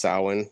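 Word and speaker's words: Samhain: Well, it's actually pronounced sin, uh, which is like the the Gaelic festival for that's basically what Halloween's derived from.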